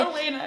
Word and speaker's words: Alayna: This is my friend Alana. Hey, Alana, hey! Elena, it's pronounced Elena.